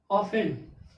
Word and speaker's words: often: इसमें भी T silent है। क्यों? क्योंकि ई और एन के पहले आया। ई एन के पहले क्या आ गया? टी आ गया तो टी साइलेंट हो गया। तो क्या हो गया? ऑफेन। यानी OFEN। ऑफेन। ऑफेन मीन्स अक्सर या बार बार या फिर प्रायः।